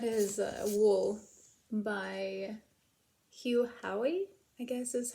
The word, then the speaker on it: Howey: reading and that is a Wool by Hugh Hoy I guess is how you pronounce his last name The Silo Series this